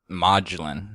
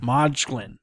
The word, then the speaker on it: Modglin: Yeah, it's pronounced Modglin. Modglin. Okay. Yeah. I don't even think I did that after you said it. Yeah, no, it's like a modular home.